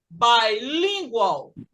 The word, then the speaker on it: bilingual: Então, aqui eu não tenho bin, eu tenho bi. Então, eu vou falar bilingual. Bilingual, porque o bi sozinho é bi.